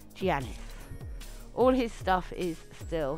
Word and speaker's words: Giannis: Right, Giannis, apparently. That's how it's pronounced. Giannis.